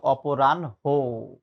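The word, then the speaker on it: অপরাহ্ণ: ভুল করা যাবে না এটার উচ্চারণ হচ্ছে অপরানহ এই যে আমি কি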